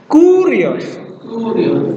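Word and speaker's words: κύριος: Cara baca dengan aksen. Kurios. Nah, begitu ya. Kurios. Dinaikkan. Kurios.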